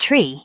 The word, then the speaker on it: three: For instance, three is pronounced tree and nine is pronounced niner. This aims to minimize confusion caused by noise or accents.